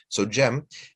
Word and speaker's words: Cem: Bayezid II was able to get to Constantinople first, but his younger brother, Shahzade Cem, in Turkish, the C is pronounced as a J, right? So Cem was also vying to become Sultan.